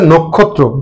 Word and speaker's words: নক্ষত্র: নক্ষত্র, সঠিক উচ্চারণ হচ্ছে নক্ষত্র। কেন হবে? এই যে নয়ের সাথে ও আছে এবং পরবর্তী বর্ণটি আছে ক্ষিয় খ। ক্ষিয় খ থাকার কারণে নটা অ আছে, ওটা ও হয়ে যাবে, বিবৃত ছিল সংবৃত হয়ে যাবে।